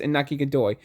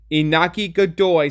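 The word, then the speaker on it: Iñaki Godoy: Inaki Godoy sounds literally like Nika. See, I almost fucked it up because it sounds so similar. Nika Joy Boy, Inaki Godoy, Nika Joy Boy. It rhymes.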